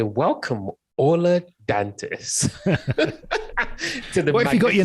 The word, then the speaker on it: Ola Dantis: I guess I would want to hear him say, "Welcome, Ola Dantis." What if you got your name wrong? It's like, no, it's not. It's Ola Dantis.